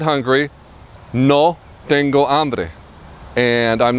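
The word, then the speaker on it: hambre: b r e and you never pronounce the h in Spanish the H in Spanish is always silent so I'm hungry D amre I'm thirsty Dango and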